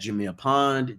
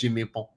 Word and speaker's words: Jameer Pond: you pronounce it Pon? No. I don't pronounce it with a French accent because Jameer Pon. no, nobody says Jameer Pond. Only you say Jameer Pond.